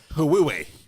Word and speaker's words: Huawei: I've been pronouncing that wrong with the Hawaii. entire time. it's like Huawei. Hooey.